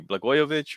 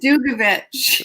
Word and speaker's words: Dugovich: Blagojevich or something like that? Oh, Chris Dugovich. Well, Dugovich. There you go.